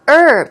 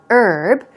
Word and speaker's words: herb: term moving on to herb here we go you can either pronounce it without the H sound herb herb herb especially in British English